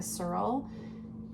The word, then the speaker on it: Serle: And then my Kindle book is One Italian Summer by Rebecca Searle. I think that's how you say her name. It's Serle.